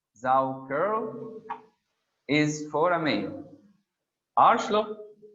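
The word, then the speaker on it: Saukerl: Zauker, pronounced Zauker, is for a male.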